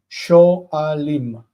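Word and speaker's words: שואלים: Sho'alim, because the aleph doesn't want a vocal shva as simple. It needs to be, vocal shva needs to be compound.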